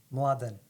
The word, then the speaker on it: Mladen: So my name in my background is Serbian, Yeah. and my name is pronounced Mladen.